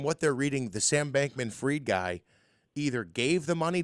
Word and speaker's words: Bankman-Fried: Fried, it's how it's pronounced, huh? Bankman-Fried.